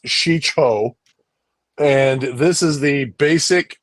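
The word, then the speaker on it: Shii-Cho: so let's see here uh form one is pronounced sheo and this is the basic lightsaber form did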